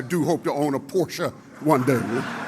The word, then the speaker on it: Porsche: And by the way, gentlemen, when you pronounce this word, that e on the end in German is pronounced as a short a. So it's not porsche, it's porsche.